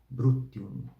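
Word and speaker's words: Bruttium: X ou pelo T, a pronúncia é do T, como tiara, tiara, tiara, ostium, ostium, ostium, brutium, brutium, brutium.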